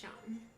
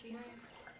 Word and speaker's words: Sean: Thank you so much, Sean. Night, it's not Sheen.